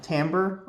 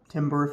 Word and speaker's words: Timbre: This is the Spector Timbre, or Timbre if you want to say it wrong, acoustic bass.